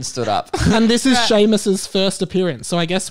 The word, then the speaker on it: Seamus: still and quiet ron weasley hermione granger and seamus finnegan sheamus oh i never read that right are you